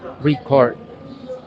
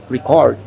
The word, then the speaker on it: record: is used as verb the stress in stress is on the second syllable record record and the re sounds like re here and i three